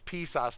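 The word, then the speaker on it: PSOS: was mispronouncing it but it's psas not pimp sauce what is a psals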